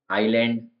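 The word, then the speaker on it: island: नहीं आ रहा है नेक्स्ट है एस का साइलेंस होना आइलैंड द्वीप आइल गलियारा पहले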